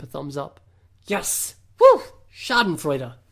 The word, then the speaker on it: Schadenfreude: Schadenfreude. Pronounced it right.